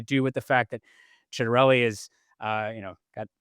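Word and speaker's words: Ciattarelli: classic Italian name, even pronounces it uh as someone who is Italian would pronounce it with the ch instead of a cedarelli.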